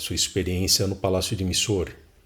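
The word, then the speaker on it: Mysore: experiência no palácio de Missor. algum as pessoas vão preferir pronunciar mais sore, mas enfim, eu sempre achei que essa pronúncia era muito muito americanizada, né, ou muito anglófona. Enfim, é grafado missor.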